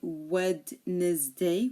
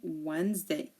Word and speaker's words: Wednesday: and we have Wednesday we don't say wedes day we say Wednesday the D is silent in all of these words handkerchief handsome